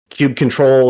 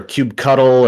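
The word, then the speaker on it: kubectl: so if you use Cube control or cube cuddle or cubectle however you want to pronounce the thing it's one of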